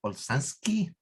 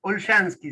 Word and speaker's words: Olszanski: con el padre Olsansky. ¿Me corrige el apellido, padre? Se me Sí, dificulta sí, pronunciarlo. estamos bien ahí. Olshansky sería en realidad.